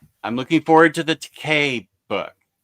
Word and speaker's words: Takei: I'm looking forward to the Takei book. That's actually how I've always remembered it's Takei and not Takai.